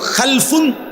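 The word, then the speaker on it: خَلَفٌ: খালফুন আরেকটা হল খালাফুন একই শব্দ শুধু উচ্চারণের মধ্যে একটু ভিন্নতা মাঝখানে একটা লাম আছে এই লামটার মধ্যে যদি সাকিন হয় তাইলে হল খালফুন আর যদি লামের মধ্যে জবর হয় তাহলে হল খালাফুন আরবি শব্দ খালফুন লামের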